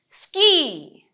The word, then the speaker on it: ski: Ski, ski, as you can see, S-K-I, এই ski wordটার মধ্যে কিন্তু double E নেই, তারপরেও it's pronounced as ski.